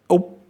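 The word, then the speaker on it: Úc: But we also have the Blowfish C sound, as in oop, oop. You make the same movement with your lips, you puff them out, but instead of trying to pronounce an M sound, you try and pronounce a C sound, and you get oop, which is Australia.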